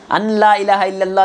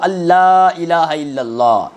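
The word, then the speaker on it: أن لا إله إلا الله: अन ला इलाहा इल्लल्लाह नहीं। अलिफ नून ज़ अन नहीं। अलिफ लाम ज़बर अल वो नून साइलेंट समझिए उसको आप। डायरेक्ट कहां पढ़ते हैं? अशद अल्ला इलाहा इल्लल्लाह व अशद अन्ना मोहम्मदन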